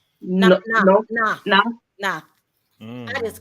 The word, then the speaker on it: Noth: Chris North or what is it? Chris? No, it's Noth.